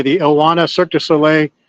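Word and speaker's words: Ohana: is the circus solle I think they pronounce it oana it's a UA an a the oana circus solay it's going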